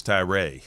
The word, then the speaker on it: Tyra: you yeah that's right everybody thinks it's a short a no long a don't use the academic sense why don't you say your name greg postal see it's easy postal right Vince ty Rae there you go ty